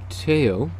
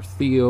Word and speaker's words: Theo: vincent van gogh's brother teo or theo or teo is probably closer to the actual original pronunciation um in dutch but